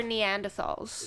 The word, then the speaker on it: Neanderthal: Poetry for Neanderthals. It's actually pronounced Neanderthal.